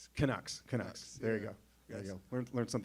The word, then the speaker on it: Canucks: So, yeah, the the how you pronounce it, the Kucks. Kucks. Canucks.